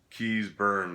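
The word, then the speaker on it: Keays-Byrne: what What's his name you Keys burn that's how you pronounce it yeah he's uh in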